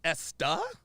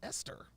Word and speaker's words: Esther: think Is it the stuff I Oh, it's pronounced Esta? I thought it was Esther.